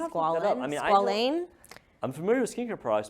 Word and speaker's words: squalane: It's pronounced squalene. Squalane.